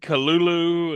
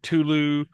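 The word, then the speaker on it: Cthulhu: One time he said kulu and other times he said culu. Yeah. And like the h's were supposed to be like breathy sounds, not actual h's.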